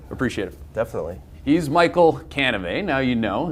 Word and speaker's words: Cannivet: He's Michael Cannivet. Now you know it rhymes with Chevrolet.